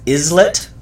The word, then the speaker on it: islet: It's written as islet, which is this one right here. But it's pronounced islet, meaning a little island.